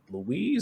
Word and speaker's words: Louis: to the day that Louise, that's his name, right? Yeah, Louis. Yeah, yeah, Louis. I don't think you pronounced the S, but yeah, it's Louis. Okay.